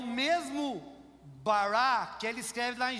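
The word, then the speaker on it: ברא: O verbo criar é no original hebraico barra. Eu não sei falar, tá? Mas deve ser essa pronúncia. Barra, que é faça a partir do nada. É o mesmo bará que ele escreve lá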